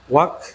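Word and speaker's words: walk: ওয়াক, চক, চক, এল এর উচ্চারণ আমরা আর কিন্তু এখানে করব না।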